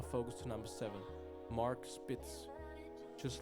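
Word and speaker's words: Spitz: Focus to number seven Mark spits not sprits I butchered that majorly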